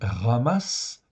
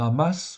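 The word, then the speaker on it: חמס: voyez là hein donc ça se prononce r on dit ramasse ok c'est comme un r en fait ici dans la gorge ok ramasse c'est le vrai nom on peut dire amasse oui à l'occidental mais enfin c'est pas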